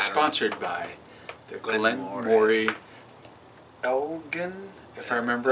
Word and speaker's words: Elgin: 8, It's sponsored by the Glen Moray Elgin, if I remember right. It's a hard G.